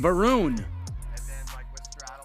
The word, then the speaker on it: Varun: Varun does rhyme with Harun, but that is clearly Varun wearing the blue shirt and the black hat.